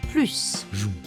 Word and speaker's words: plus: gagne plus qu' attention lorsque plus accompagne un verbe on prononce le S final gagne plus on peut comparer des